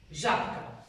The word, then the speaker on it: Žabka: lepšie hovorí Žabka Žabka Ale čo vy vlastne vyslovujete čo vyslovujete domo p p výborne tu dochádza k spodobovaniu b je znela párová k je neznela párová a vtedy príde k